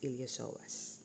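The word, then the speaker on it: iliopsoas: yan so you have here the here the ilosoas no okay there the ilosoas so it's spilled ilopsoas but it's pronounced as ilosoas Okay.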